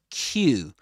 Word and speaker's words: queue: And the word is Q, just like the letter Q.